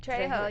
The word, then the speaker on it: Trejo: So today we're going to highlight Danny Trejo. Is that how to pronounce it? Trejo, yeah.